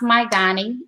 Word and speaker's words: Mygani: the company name um it's pronounced mygani and it's m-y-g-a-n-i um and i actually